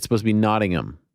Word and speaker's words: Nottingham: what are we saying nodding them it's supposed to be nodding them like you don't you don't pronounce the h we got a lot